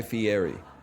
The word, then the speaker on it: Fieri: Middle school for me was like Guy Fieri. Fieri. I love Fieri, two yeah.